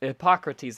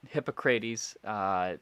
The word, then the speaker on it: Hippocrates: So Hippocrates, I believe, is the correct pronunciation, but Hippocrates is another way that his name is often pronounced.